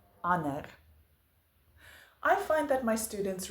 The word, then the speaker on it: ander: In words where there is a D that follows an N, we usually drop the D in our pronunciation. For instance, donderdag, sonder, ander.